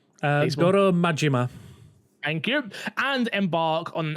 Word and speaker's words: Goro Majima: series belov reoccurring character uh how do you pronounce his name properly because I'm going to say I'm wrong uh Goro majima thank you and embark on an over-the-top journey